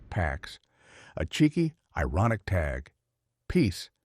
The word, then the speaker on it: P4X: To reduce those risks, he assumes a pseudonym P4X, pronounced PAX, a cheeky, ironic tag, peace enforced through punishment.